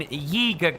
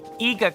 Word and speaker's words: Yiga: Gotta really pronounce that Y in Yiga clan, because if you don't, well, my mouth might just stick together in a way that might make it sound like Iga clan instead, like Iga Kogarashi, or